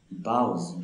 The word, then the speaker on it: boughs: বাউজ, BOUGHS, বাউজ, উচ্চারণটাকে তোমরা খেয়াল করবে, বানানটাকেও খেয়াল করবে।